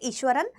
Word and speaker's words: Iswaran: जिसका नाम है ईश्वरण आप इसको ईश्वरण या ईश्वरण प्रोनाउंस कर सकते हैं I would call it ईश्वरण through out the chapter right तो आज